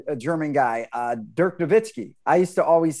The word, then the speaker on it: Nowitzki: german guy uh dirk nowitzki i used to always say nowitzki but you pronounce the w as a v look at that and